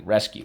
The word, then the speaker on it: rescue: Underline the U and the silent E twice.